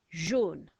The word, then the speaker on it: jaune: So we've got a fast car sound, so this time it's not the G, it's the J. O is AU. N, and then the silent letter is an E again, like we had at the end of rouge.